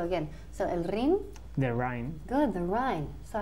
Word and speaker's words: Rhine: How do we say el rin in English? The rin. The rin. Casi, pero no. So we want to say the Rhine.